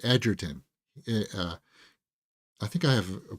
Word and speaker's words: Egerton: once you know, like, he pronounces it Edgerton. I think I have a playlist of him pronouncing it. But it's so cringe when it's like you hear people, Egerton, Taron Egerton.